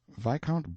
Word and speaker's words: viscount: name and style being the honorable kirk cudbright lannover marjorie banks sellers viscount berkeley of chalmundale castle warwickshire pronounced kakubri flanover marshbank sellers vikant barkley of chumley castle workshop he is standing by